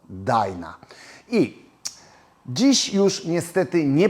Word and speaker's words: Dyna: czyli o rodzinie DNA tak w Polsce mówi się na nią DNA niektórzy mówią dynka jeszcze inni dynia a Amerykanie wymawiają to jako DNA i dziś już niestety